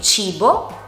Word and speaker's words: cibo: Se la H non ci fosse, dovremo allora pronunciare la C con un suono dolce, che è il suono CH, per esempio in parole come cibo oppure cena.